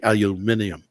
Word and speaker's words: aluminium: because you do say instead of aluminum you do see aluminium iminium yes I do